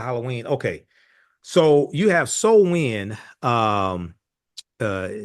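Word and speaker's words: Samhain: So, you have so wind um uh spelled s a m h a i n but pronounced s o wen.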